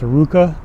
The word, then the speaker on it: RVCA: here's another youth clothing this is RVCA and it's pronounced Iruka it's a kind of